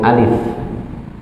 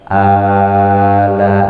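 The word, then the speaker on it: ألف: Alif lam mim, langsung alif, ya bukan ala, enggak begitu, tapi alif lam.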